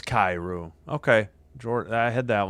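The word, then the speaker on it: Kyrou: How do you say, Kairu? Jordan... It is Kairu.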